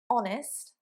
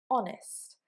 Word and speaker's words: honest: Sometimes in English, we may have a consonant at the beginning of a word, but that consonant is silent. For example, an honest man. Not honest, but honest.